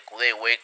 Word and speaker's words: Kudewe: van a notar que pronuncié el nombre de juego kdw en lugar de cdew que es la pronunciación adecuada este fue un error